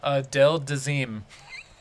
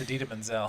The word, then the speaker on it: Idina Menzel: get John Travolta to mispronounced that singer's name again oh yeah a del dazeem it's idina menzel this gets better the